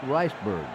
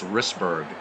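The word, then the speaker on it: Risberg: that brings up sweet Riceberg he's all for one with a strikeout the pronunciations aren't as good as in baseball for Windows it's wristberg but still Kurt we love you we'll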